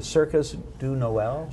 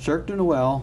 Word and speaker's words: Cirque du Noël: Now, another thing that's going to be nice for the holiday season is, am I pronouncing it the Circus du Noël? Cirque du Noël.